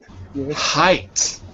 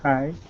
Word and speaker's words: height: in Spanish it's alight height Height. Height. Remember this is an I sound. Height. Height. Good. The normal I like the word white. Like the word lion.